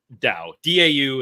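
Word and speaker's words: Dão: to look up uh da da is is how you pronounce the Dow area of Portugal that's right um cool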